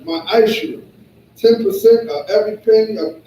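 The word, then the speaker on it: מעשר: Means tenth in Hebrew, and is pronounced ma'ashir.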